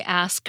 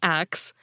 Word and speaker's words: ask: rest is history unquote today the ask version is considered standard but before you get up in arms about someone saying ax remember that this pronunciation is an accepted part of some modern dialects it has a long